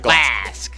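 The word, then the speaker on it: Glasc: Yeah, Renata Glask. I do not like Glask. Well, that's too bad. That's how you say it.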